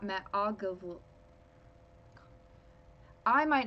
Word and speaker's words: Ogilvy: It's Ogilvy.